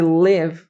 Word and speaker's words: live: I live é muito mais com som de e do que com som de i.